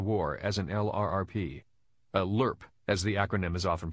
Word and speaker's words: LRRP: missions of the war as an LRRP a lerp as the acronym is often pronounced which stands for long-range reconnaissance patrol was